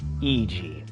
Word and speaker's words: Iji: Iji.